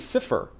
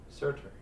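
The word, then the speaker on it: Surtr: And I want to say his name is Sifr, because that's where we get the term sulfur. The mineral is named after him. Surtur.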